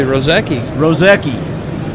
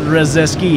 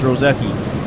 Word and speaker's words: Rozecki: Absolutely, Rozecki. Not Rozeski, it's Rozecki.